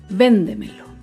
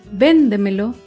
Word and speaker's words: véndemelo: Por ejemplo, la palabra véndemelo. Véndemelo se acentúa en la sílaba anterior a la antepenúltima sílaba.